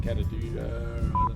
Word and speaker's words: Kata Tjuta: So we've arrived at the Olgas or which is and you pronounce it Kata Tjuta. We've got to Kata Tjuta.